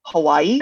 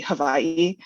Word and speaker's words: Hawaii: Japan from Hiroshima to Hawaii and I I know I'm saying it wrong I know it's supposed to be Havi but funny enough when